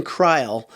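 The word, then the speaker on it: Kreul: a true freshman named ben kreil it's spelled looks like cruel k-r-e-u-l he's out of wisconsin kreil had offers from nebraska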